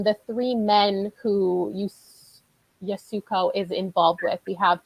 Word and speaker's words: Yasuko: audiobook was yasuko um they pronounced it in the audiobook yasuko oh yasco yasuko yeah got it thank you